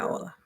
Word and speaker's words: hola: Yeah, hola. Oh, so the H is silent.